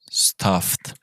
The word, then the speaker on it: stuffed: So you don't pronounce the ED. You don't pronounce this. So you don't say stuffed, but you say stuffed.